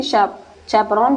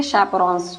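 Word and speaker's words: chaperone: तो होपफुली चैपरॉन आपको समझ में आ गया होगा कि चैपरॉन बोलिए या शैपरॉन्स, जो भी आप प्रोनाउंस करिए इसको, सब सही है।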